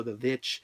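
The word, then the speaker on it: The VVitch: like you know because it's actually with two V two v's but the movie is called the most people people say the witch but it's also the vitch you could say it like that but has on here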